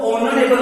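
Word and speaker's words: honorable: शुरू हो रही है, लेकिन इसमें जो एच है वो एच क्या है? साइलेंट लेटर है। तो इसके आगे जब हम इसको हिंदी में लिखते हैं, ठीक है, तो इसमें जो होगा वो ऑनरेबल हो जाएगा। ये एच की आवाज नहीं आएगी और ऑनरेबल आ जाएगा।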